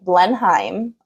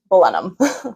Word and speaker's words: Blenheim: really funny I was I was pronouncing Blenheim um and then my tour guide who I was talking to she was like are you German he's like well funny enough my family is German um but she it's balum so I like okay good